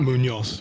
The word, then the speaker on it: Munhoz: Afghan Gastelum is back against a debutant called Alex Munhoz. I'm assuming that's a Spanish name. Well, once again, you've completely butchered a Spanish name. How do you pronounce that? Munhoz.